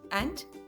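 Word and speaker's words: ए: A is pronounced as E in the word bed or set.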